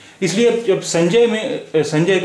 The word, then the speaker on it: संजय: अब जब हम बोलते हैं शब्द संजय देखिए, हिंदी में हम संजय इस तरह लिखते हैं, लेकिन हम इसे बोल क्या रहे हैं? हम इसे बोल रहे हैं, ये जो हम बोल रहे हैं अगर उसी तरह लिखें तो ये स्पेलिंग होती है उसकी, संजय, क्योंकि जय हम बोल रहे हैं, जा पे ए की मात्रा है, यहाँ या नहीं बोल रहे हैं, संजय नहीं बोल रहे हैं, संजय